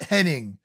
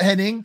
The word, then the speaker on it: Hennig: Kurt Hennig. I never knew if it's Kurt Hennig or Kurt Hennig. I'm going to say Hennig. I think it's spelt Hennig and pronounced Hennig, but two amazing workers here going at it.